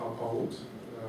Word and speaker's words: Алпауд: Меня зовут Алпауд, ударение на Алпауд все-таки.